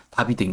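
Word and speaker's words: Davide: 다윗인데 발음이 유럽 언어마다 다르다 보니까 이탈리아어로는 다비드인 거죠.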